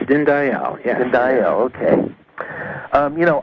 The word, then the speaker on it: Dinndayal: greetings yes thank you I pronounced your name right is at din Dayal yes din Dayal and il okay you